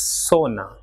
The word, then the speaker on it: zona: Same way, ZONA will be pronounced as sona, and ZORRO will be